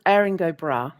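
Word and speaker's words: Erin go Bragh: Because I can't pronounce this. Yeah. It's called Aaring Brah, which uh means Ireland forever.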